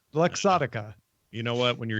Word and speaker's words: Luxottica: is partnering with ray-ban they're comparing company anyway Locke Socata to bring augmented reality glasses to mark Sotka did I say it wrong luxottica you know what when you're here you're family